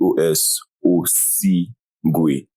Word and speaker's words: Osigwe: I mean, king in Igbo is Igwe. So just put the OS Gwe. OS. Yes, Yeah, OS Gwe. Oh, Crown of King. So yeah. Crown of the King. Yeah, Osigwe.